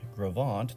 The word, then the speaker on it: Gros Ventre: middle of my red line the French words "gros ventre" that's how that's pronounced so it means big belly in French